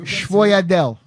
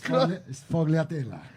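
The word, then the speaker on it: sfogliatella: Schvoyadel. Did I say it right? Close by. It's fogliatella.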